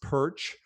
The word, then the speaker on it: Pyrcz: name is perch pyrcz it's pronounced perch if you say it just like perch then you're you're doing